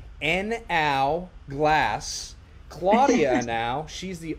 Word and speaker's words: Henao: joined by the owner of and I'm gonna pronounce this correctly an ow glass Claudia now she's the owner of the